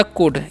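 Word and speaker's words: could: next व है हमारा कुड इसे हम क्या पढ़ेंगे कुड ठीक है यहां पर भी एल साइलेंट होता है कुड मतलब क्या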